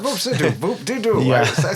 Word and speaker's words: Voop de Doo: No, Voop de Doo, Voop de Doo. Not Voop de Doo, Voop de Doo.